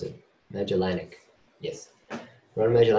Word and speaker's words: Magellanic: at the large magic magic Mega genic cannot pronounce it magellanic yes you want to imagine any cloud um